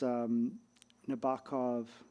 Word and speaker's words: Nabokov: There's this Nabokov. I always mispronounce. Nabokov.